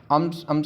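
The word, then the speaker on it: psalms: संहिता करना उसके बाद हैम्स का मतलब होता है खरात करना इसमें जो ल है ये जो साइलेंट होता है उसके बाद जनाजे को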